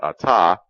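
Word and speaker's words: אתה: in Hebrew which is Atta ATA Rhymes withalta you can see how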